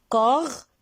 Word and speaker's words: corbeille: Alors, on l'appelle corbeille-le.